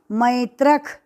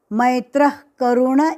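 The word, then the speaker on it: मैत्रः करुण: नाम मैत्र करुण एवच मैत्र के आगे विसर्ग विसर्ग के सामने क से शुरू हुआ शब्द इसलिए कंस में ख जैसा उच्चारण लगना चाहिए लेकिन मैत्रख मैत्र करुण ऐसा बोलना नहीं खाली श्वास छोड़ते समय ख जैसा लगना चाहिए मैत्र मैत्र मैत्र करुण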